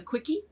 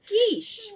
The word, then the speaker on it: quiche: recipe card and said oh we're having a quickie for dinner phonetically correct that's heaven that would not be right no dad was within your shot and came out what no the kid's going somewhere it's pronounced quiche which is though so anyway uh and then